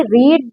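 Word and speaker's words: read: एंड ही रीड the book before class. तो क्या हो जाएगा? ही हैड रेड। रीड का रेड प्रोनाउंसिएशन में होता है लेकिन लिखा रीड ही जाता है।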